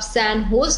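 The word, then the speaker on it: San Jose: United states और recently सैन जोज university जिसको आप सैन होस की तरह प्रोनाउंस करते हैं व्हिच दे वर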